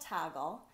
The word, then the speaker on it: Toggl: One is called Toggle. It's spelled T-O-G-G-L.